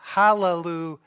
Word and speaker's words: Hallelujah: our passage it says hallelujah we spell it with a j but there's no J in Hebrew it's Hallelujah so this is a